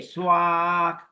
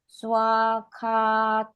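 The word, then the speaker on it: svāgato: It's a long A. Swakato. Swakato.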